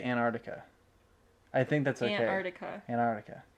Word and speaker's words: Antarctica: I don't think it's important that you pronounce the second C. Or the first C? The first C. Antarctica. And I think you could just say Antarctica.